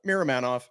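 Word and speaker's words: Miromanov: think ball is serviceable I look at that pronounce give me it Miram manov yeah yeah Miram manov I agree with you guys I think if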